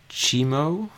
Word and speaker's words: Tiemoué: flying back and forth his name is pronounced chemo Oh like chemo I'm not that talented we're just going to go with chemo with a hard T and he's just going